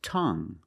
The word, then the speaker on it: tongue: And we have this word tongue. The ue at the end is silent. So we pronounce it like young. Tongue. You have only the nasal sound. There's no G. It's just the sound M.